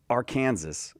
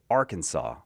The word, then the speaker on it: Arkansas: Yeah, Arkansas year. Arkansas. Oh, very Hmm. good. You probably know the answer to this, but we don't say Arkansas. We say Arkansas, but it Arkansas.